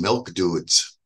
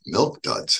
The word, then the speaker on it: Milk Duds: one day she said honey I really like these milk dudes and ish and I just burst out laughing it's Milk Duds honey so they mispronounce English